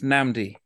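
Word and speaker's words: Nnamdi: of your name uh so I know the double end it's namdi namdi yes yes my parents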